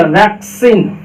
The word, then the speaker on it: vaccine: है, तो इसका मतलब पहले वाले सी का उच्चारण क निकलेगा, दूसरे वाले का स निकलेगा, तो क्या हो गया वैक्सीन, वैक्सीन।